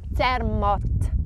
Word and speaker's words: Zermatt: How would you pronounce that one? Yeah, very good. Zermatt.